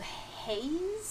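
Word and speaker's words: HAES: that is um uh this this movement called haze i guess that's how i that's how i pronounce it in my head h-a-e-s health at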